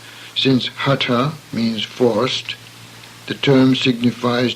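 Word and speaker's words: hatha: and around this city hata yoga is the next term please note the aspirated T as in anthill not present nothing since Hutta means forced the term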